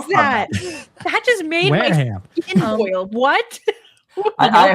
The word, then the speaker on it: Wareham: It's pronounced Wareham, but I've heard people call it Wareham. Yeah, Wareham. And I've heard it called Wareham. So it's like Wareham or where I'm like, where do you get hum from?